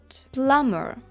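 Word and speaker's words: plumber: слово борг that de або сумнів D D plummer Сантехнік plummer також є ще слово sule sule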